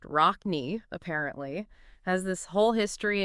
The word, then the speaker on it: Rocne: When we looked at the info from ISLK, learning about the producer, DJ Rockna, pronounced Rockny, apparently has this whole history in DJing, producing, rap, even break dancing and graffiti art.